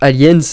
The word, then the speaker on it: Aliens: fois se voit rajouter la lettre S à la fin, marque du pluriel, qui est prononcée en anglais, mais pas en français. En anglais, on va dire Aliens, alors qu'en français, on va juste dire Alien.